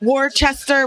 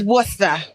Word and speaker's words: Worcester: If you're not from New England or Massachusetts, you're like War-chester, War- War-cester, but it's Wooster.